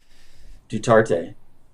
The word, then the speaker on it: Duterte: say that word girth do in the philippines duterte yes there you go tell us a little